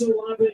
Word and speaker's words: Olave: Well, today, where there's been a Chris Olave long catch, Which, yes, by the way, you heard me say it right.